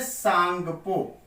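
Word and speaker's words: Tsangpo: तो इसको बोलते हैं सांगपो। सांगपो, या कहीं कहीं लिखा जाता है शांपो, या कहीं कहीं ऐसे लिख देते हैं टी सांगपो, टी साइलेंट रहता है।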